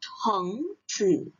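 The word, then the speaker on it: 橙子: Ingat ya, ada h-nya, jadi 橙子.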